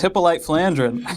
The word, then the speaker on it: Hippolyte Flandrin: what you're talking about now I it's it's hippolyte flandrin no it's not hipoly flin it's that is